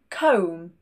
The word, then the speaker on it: comb: So when the final two letters of the word are MB, we do not pronounce this B. Lamb, thumb, comb, no B.